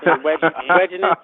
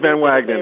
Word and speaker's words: Van Wagenen: How do you say your last name? Wagenen? Is that right? It's Van Wagenen. I've been fighting people my whole life, so I'm saying that right.